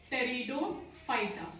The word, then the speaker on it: Pteridophyta: P is silent. Pteridophyta.